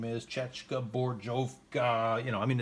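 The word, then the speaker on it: Česká zbrojovka: I'm not even going to go into how to pronounce what the real name is. Chechka Borjovka.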